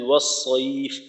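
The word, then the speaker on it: والصيف: তো এখানে ওয়াস সাইফ এইখানে একটু সমস্যা হয়, অর্থাৎ সদের উচ্চারণটা একটু পাতলা হওয়ার কারণে সিনের উচ্চারণের মতো শোনা যায়, ওয়াস ওয়াস ওয়াস, অর্থাৎ সদের তাসদিদের প্রথম উচ্চারণটা ওয়াস ওয়াস সইফ ওয়াস সইফ। তো মোটা করে ওয়াস সইফ ওয়াস সইফ, আর ঠোঁট যেন গোল না হয় এই বিষয়টাও খেয়াল রাখা।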